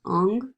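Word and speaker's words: Ingres: painted by Jean-Auguste Dominique Ong from 1814. It is oil on canvas, and it is currently in the Louvre. The artist's last name is pronounced Ong, like O-N-G.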